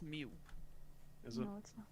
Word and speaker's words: Mew: moo is an m it's not moo it's Mew it's mute it is